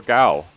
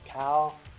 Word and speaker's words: Gao: hey uh clarification john is it cow or gao uh it's if you want to do like american ish pronunciation you could say you can go ahead as a cow but the right you know the correct way to say is dao with the g g-a-o so that's how you supposed to say pronounce it correctly for my last name so you've been saying